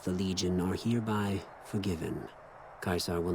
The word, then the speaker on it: Caesar: yeah render kaizar so I thought he was pronouncing it as Caesar but he then pronounced it as kaisar so I guess he